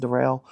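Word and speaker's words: Darryl: me going into uh what's his face it's pronounced derell anyways uh Daryl George is the most recent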